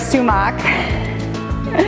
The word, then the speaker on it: sumac: One, my super secret ingredient, which is sumac, which I was just told is pronounced sumac and not sumac, so there's that, by my half Middle Eastern husband.